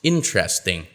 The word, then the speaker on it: interesting: for at interesting well actually it's pronounced with three syllables interesting vegetable you might expect